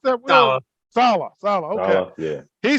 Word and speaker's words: Saleh: Coach Robert, is it Salala? How do you pronounce that word? Saleh.